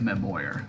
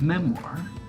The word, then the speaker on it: memoir: though if memoir I know it looks like my Boyer but it's pronounced memoir which describes a few big events in somebody's